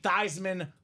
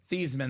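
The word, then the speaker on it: Theismann: thyman so we can say thyman for the Heisman Joe of course being a quarterback being a superstar he wanted all the glory complete sellout he says let's do it tman for the Heisman it did not work Jim plunet won the Heisman Trophy but the name stuck it was forever thyman till the end of days now years later this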